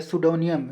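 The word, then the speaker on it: pseudonym: disguise इसका क्या कहेंगे सुडो नियम सु डोनियन क्या कहेंगे सुडो नियम यहां पे पी साइलेंट होता है इसको क्या कहेंगे सुडो नियम यहां पे पी साइलेंट होता है पी का उच्चारण नहीं र साइलेंट रहता है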